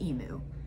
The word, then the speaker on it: emu: In America, the correct way to say emu is emu. And I'm going to continue saying that because I'm American and that's how I say it.